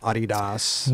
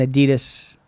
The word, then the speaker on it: Adidas: Paul Shire from Adidas hooked you up. I always get nervous saying that. I'm going to say it wrong. Adidas. Is that how you say it? Yeah, everybody says Chris Adidas.